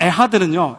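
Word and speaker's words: אחד: 여기서 맨 마지막 에하드는요 약간 이 프랑스 발음처럼 이렇게 끌어오르는 소리를 해야 됩니다. 잘못하면 가래가 나올 수 있습니다.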